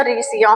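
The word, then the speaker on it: Riccia: Live words आते हैं जैसे कि रीिया इसे रिचिया भी बोलते हैं कोई रिकिया भी बोलते हैं। प्रोनाउंसिएशन सही है इसका रीसिया। ठीक है?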